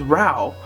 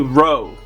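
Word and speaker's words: Rau: the Kanohi wrong, and I swear I thought it was Rao, because you know, the likes of Metal and all that stuff, but it's actually Ro, R-O-W, Ro, like bow, B-O-W, R-O-W, Ro.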